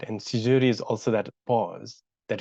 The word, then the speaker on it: Caesurae: That's how you pronounce Caesurae. Caesurae.